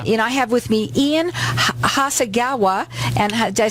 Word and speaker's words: Hasegawa: I have with me Ian Hasegawa.